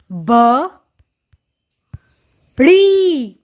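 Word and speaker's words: बारी: इस 'दा' के नीचे एक बिंदु है। तो हम इसका उच्चारण कैसे करेंगे ? रा . और इसमें एक लंबा 'ई' स्वर चिह्न जोड़ा जाता है। इसीलिए हम इसे 'री ' कहेंगे।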